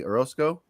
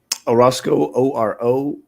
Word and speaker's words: Orosco: How do you spell your how do you pronounce your last name, buddy? Orosco. Orosco, Orosco.